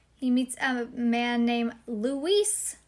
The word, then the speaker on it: Luis: He's from Spain. It is pronounced Luis.